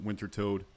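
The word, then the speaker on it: Wintertodt: And yes, I pronounce it Winter Toad.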